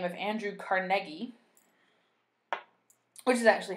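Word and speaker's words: Carnegie: the name of Andrew carnegi which is actually how you pronounce his name uh if you're going to to say it so properly like a Scottish person might um he was kind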